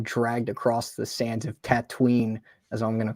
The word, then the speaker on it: Tatooine: of him being dragged across the sands of Tatooine, as I'm going to call it. Thank you for saying it the correct pronunciation.